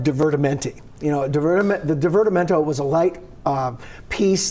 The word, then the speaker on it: divertimento: is here now to tell us about Dr divertimento that's did I say it right that's it